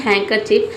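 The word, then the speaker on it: handkerchief: हैंकर चिप में यहां पे देख सकते हैं कि इसको हम पढ़ते हैं हैंकर चिप। लेकिन यहां पे हम लिखते हैं हैंडकर चिप।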